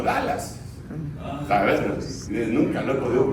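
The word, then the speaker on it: Dulles: Se se escribe dules, pero le dicen como Dallas.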